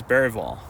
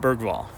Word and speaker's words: Bergvall: straight from his mouth the pronunciation is baral not bergvall um so yeah I